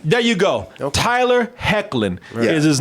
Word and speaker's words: Hoechlin: Hochelin is how. Well, it's spelled that way, but usually when it's like a O-E-N something, it can be pronounced like a Hain.